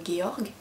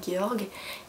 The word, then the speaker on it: Georg: En plus, c'est un roman semi-épistolaire, puisqu'on alterne entre le récit de Georg, je le prononce à l'allemande, alors j'ai estimé que ça se prononçait pareil en norvégien, ça se trouve je me trompe.